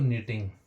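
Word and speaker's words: knitting: भी हमारा के भी है लेकिन के हमारा साइलेंट हो जाता है नो मींस जानना पहचानना। ठीक है? एक होता है दोस्तों निटिंग।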